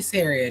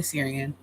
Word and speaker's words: Syrian: I learned it from Bailey Bailey Sarah no I was saying her name wrong but Bailey Syrian you all might know